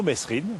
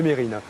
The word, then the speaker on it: Mesrine: Je vois qu'on garde bien l'habitude aussi de toujours prononcer Mesrine au lieu de Mérine.